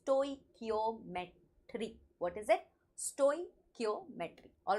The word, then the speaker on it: stoichiometry: today's topic, that is stoichiometry and stoichiometric calculation. First of all, there are a lot of pronunciations that you will find everywhere, but the correct pronunciation is stoichiometry.